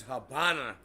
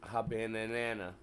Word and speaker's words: Habana: Havana Hab he says Habana uh love V love says the pronunciation is with a B sound instead of a v sound but it isn't spelled